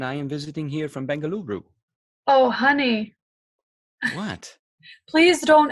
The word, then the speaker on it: Bengaluru: a must as well bengaluru bengaluru is bangalore just how they say it locally oh yeah we had